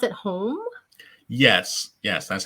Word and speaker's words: HOM: so james is the author of do i pronounce at home yes yes that's how it's produced so home